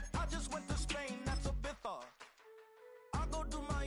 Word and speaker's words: Ibiza: Ibiza, yeah, it's pronounced Ibiza, actually.